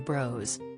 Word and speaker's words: Bros: Echoes of Woody Allen Bros 15 115 minutes is pronounced to rhyme with flows not floss and has nothing to do